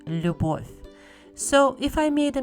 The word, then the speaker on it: любовь: It's pronounced любовь.